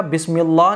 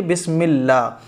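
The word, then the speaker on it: بسم الله: غلطی نہیں ہے تو کوئی بات نہیں ہے، بسم اللہ، یہاں اللہ کا نام جو ہے وہ باریک پڑھا جائے گا، بسم اللہ نہیں پڑھا جائے گا بلکہ بسم اللہ، بسم اللہ الرحمہ، ہر ہر کی جگہ کچھ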